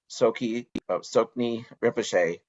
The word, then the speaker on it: Tsoknyi Rinpoche: in Colorado, where he practices with Dzogchen teacher Tsoknyi Rinpoche. Did I pronounce that right, Kokyo?